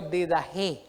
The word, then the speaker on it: Didaché: eh descrito que se llamaba la didajé didaché se escribe yo didajé verdad Esa era una obra literaria de la